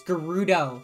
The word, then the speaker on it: Gerudo: you know what fake why do you say Gyarados right it's Gerudo sorry whatever I'm always